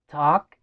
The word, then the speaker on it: talk: Talk and speak. Talk and speak. Talk. Talk. Acá la L no suena.